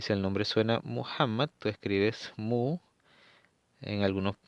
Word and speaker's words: Muhammad: Muhammad es el mensajero de Allah.